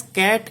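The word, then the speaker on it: ket: Now we use the notation this is pronounced as cat S.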